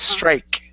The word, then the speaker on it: strike: Pronounce a K at the end. You pronounced a T saying. It's strike. Back of the mouth.